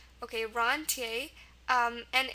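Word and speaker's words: rentier: yep here we go it's pronounced roner because in actual French um it would be pronounced H um and when it's come into English it's just slightly altered now it's pronounced roner okay roner um and it's first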